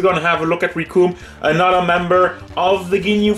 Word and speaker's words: Recoome: arts dragon ball z the names riku and it rhymes with doom and i like that line i stole it from team foster by the way yes we're gonna have a look at rikum another member of the